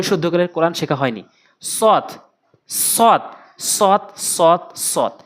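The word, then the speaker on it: صاد: সৎ সৎ সৎ সৎ সৎ, সৎ কোথা থেকে উচ্চারণ হয়, কিভাবে উচ্চারণ করতে হবে? সৎ অর্থাৎ শক্তি দিয়ে জিহ্বার আগাটা উপরে নিচে 2টি দাঁতের আগাতে লাগাবেন। সৎ সৎ সৎ সৎ এভাবে উচ্চারণ করবেন, না হলে সঠিক উচ্চারণ হবে না।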